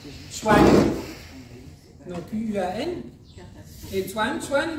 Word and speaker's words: Zuan: Après, vous avez le deuxième, c'est Swan Swan. Donc là, c'est l'eau. Ça s'écrit Z-U-A-N. Swan.